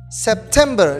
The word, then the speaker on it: September: next month is september september there are three syllables september the stress is in the second syllable september september let's say